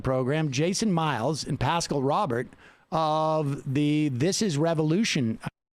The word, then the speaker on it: Robert: Don't let Pascal know that I mispronounced his last name. It's Robert.